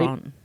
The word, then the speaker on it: Laurent: Was it Yves Saint Laurent? Did I pronounce that right? Laurent.